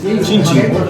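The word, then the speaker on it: cin cin: Chinchi.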